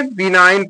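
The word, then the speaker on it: benign: जी silent हो गया यहां पर भी जी साइलेंट हो गया तो इसको क्या पढ़ेंगे मलाइन पढ़ेंगे मलाइन माने दुष्ट इसको क्या पढ़ेंगे बिनाइन पढ़ेंगे बिनाइन बिनाइन माने 100 में यहां पर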